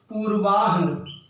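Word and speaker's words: पूर्वाह्न: और इसकी वजह से हम इसको मध्यान पढ़ते हैं मध्यान पूर्वा अपरान जबकि होता क्या है पूर्वाहन मध्यान अपराहन अगर हलंत लगाकर इनको लिखा जाए तो यह उच्चारण की यह जो गलती है यह भी नहीं होगी एक शब्द देखिए बहुत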